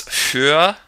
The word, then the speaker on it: für: Another couple words, für, and Tür. Für, notice how the R is pronounced. It's kind of just a tightening of the throat.